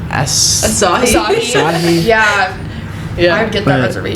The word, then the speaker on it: Asahi: Asahi.